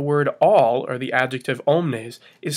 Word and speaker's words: omnes: at the first one omnes welas you have a long es in omnes and a long a s in weilous and for the word